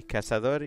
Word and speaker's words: cazador: Pronounce them with the cooler Latin American Spanish. So just the S sound, essentially. Cazador in luz.